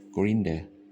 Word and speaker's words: grind: นี่ ไง แปล ว่า Grinder grinder j green grinder ต้อง อ่าน ว่า grind เดี๋ยว เรื่อง ตัว i